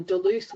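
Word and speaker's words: Duluth: That's spelled D U L U T H. So if you just Google Deluth wheels, you will be led to a website full of them.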